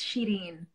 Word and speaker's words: Shirin: Is that how you pronounce it? It's Shirin.